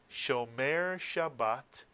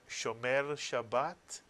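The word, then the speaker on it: שומר שבת: If you said Shomer Shabbat or Shomer Shabbat, you are 100% correct.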